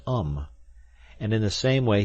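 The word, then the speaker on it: homme: a piece of bark he learned from darneau that it was pronounced um and in the same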